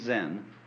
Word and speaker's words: Zen: by the name of um in chinese japanese pronunciation like zen is the japanese pronunciation of the chinese chun